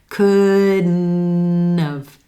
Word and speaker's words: couldn't have: Then we release that N into of. Couldn't have.